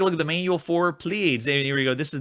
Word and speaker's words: Pleiads: I'm just going to say Pleiads. Make it one syllable.